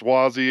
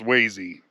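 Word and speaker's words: Swasey: Did I say S Swazy again? I meant sees. Somebody told me it's pronounced sees.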